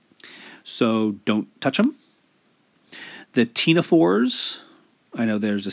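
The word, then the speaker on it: ctenophores: The tenophores, I know there's a C in cnidarian and tenophore, but you don't pronounce the C.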